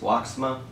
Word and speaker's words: WOXMA: Hey YouTube, I want to thank again, I believe it's pronounced Woxma, for the LED bulbs.